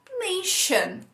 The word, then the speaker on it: nation: O TI, pronunciado como sh, como na palavra nation.